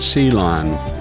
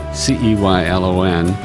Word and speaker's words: Ceylon: We pronounce it Ceylon, Ceylon, and it is a little town just outside of Fairmont, Minnesota. And my dad was a minister in Ceylon, and that's where I was born.